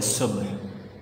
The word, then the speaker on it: صبح: یہ لفظ صبح، اس کو بہت سے لوگ صبح کہتے ہیں یا صبح کہتے ہیں، غلط ہے۔ اصل جو اس کا تلفظ ہے وہ ہے صبح، بے اور ہے دونوں کے سکون کے ساتھ، ٹھیک ہے۔ کراچی میں